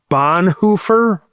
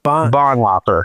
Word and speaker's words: Bonhoeffer: I just started reading is it pronounced Bonhoeffer? Bonhoeffer.